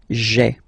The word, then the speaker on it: j'ai: So just to avoid pronouncing this je ai, because we think that in French it doesn't sound that beautiful, so we tend to take this e away, okay, so that you get this sound j'ai, j'ai, okay. So j apostrophe ai. Remember, when you combine this ai, you get the e sound, okay.